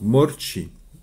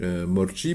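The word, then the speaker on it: მორჩი: guiles donc morchi routun c'est assez facile à prononcer il y a aucune difficulté à part des a roulé comme la espagnool donc morchi morchi mais c'est du tutoimement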